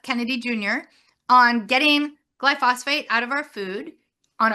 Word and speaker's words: glyphosate: Sure, and yeah, it's glyphosate. It's a tough one to Glyphosate, pronounce.